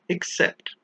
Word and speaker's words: except: One is with an A, which is why we pronounce it as accept, and the other one is written with an E, and we pronounce it as accept.